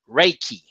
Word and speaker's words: Reiki: he corrected me or gave me the pronunciation of that word is Reiki. Reiki. All right, so that's how, Daryl, how you pronounce the sisters at the third level of Reiki.